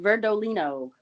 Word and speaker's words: Verdolino: before we began oh that's pronounced verdolino verdolino okay so yeah we